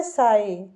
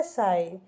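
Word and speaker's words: sigh: है लिखा हुआ है साई एस आई जी एच क्या लिखा है साई तो स को हम साही पढ़ते हैं और जहां तक आपको पता है आई को हम य पढ़ेंगे जी एच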